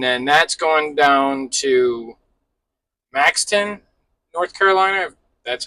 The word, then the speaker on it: Maxton: It is two palletized coils and then that's going down to Maxton, North Carolina. That's how you pronounce it.